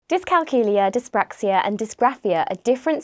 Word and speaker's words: dyscalculia: it pronounced in different ways, but the correct pronunciation is dyscalculia.